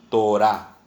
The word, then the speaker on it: Torá: Si usted quiere poner aquí ley, como concepto, ley, literalmente quiere decir Torah. T-O-R-A, acento en la A. Torah.